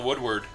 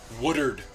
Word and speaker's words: Woodard: Nathaniel Woodward in the room. Oh, I said his name wrong. He's gonna kill me. Woodard, not Woodward.